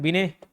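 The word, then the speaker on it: Binet: सब सरनेम है ना बिने टी साइलेंट रहता है और विलियम स्टर्न अंग्रेजी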